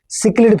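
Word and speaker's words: cichlid: species called सिक्लिड फसेस यह spelling है pronounce करते हैं सिक्ड सिक्लिड फसेस example to parthenium लटना एंड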